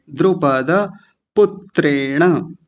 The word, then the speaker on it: द्रुपदपुत्रेण: और आगे है पद, द्रुपद, पद नहीं पद, ऐसा बोलेंगे, द्रुपद पुत्रेण।